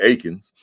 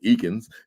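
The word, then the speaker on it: Eakins: pronouncing it wrong because you said Akens and we've been saying eans right so it looks like eans it looks like eans but yeah it's Akin it's Akin so Ain PhD right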